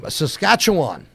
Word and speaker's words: Saskatchewan: It is Tyler Main from L.A., but Saskatchewan.